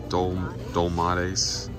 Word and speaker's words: dolmades: Dolmades, whatever. All right, he said it was pronounced dolmades.